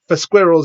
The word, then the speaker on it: squirrel: For Squirrels is a really bad name for a band. I know that in America they say squirrels wrong. They say squirrel. So the word squirrel rhymes with girl in America.